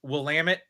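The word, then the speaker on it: Willamette: met right it's so the way that they teach you how to say it is Willam it damn it I like it so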